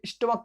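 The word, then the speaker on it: stomach: और उसमें एक नोट लिखवाया था जिसमें हमने स्टमक की स्पेलिंग लिखवाई थी।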